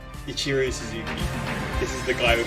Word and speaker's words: Ichiro Suzuki: Ichiro Suzuki. Ichiro Suzuki.